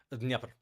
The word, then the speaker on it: Dnieper: Dnipro? Dnieper.